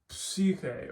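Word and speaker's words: ψυχή: Same with the Xi, it's psyche or psychologia or something like that. So you always pronounce the P sound, even if it's not normally there in the English equivalent.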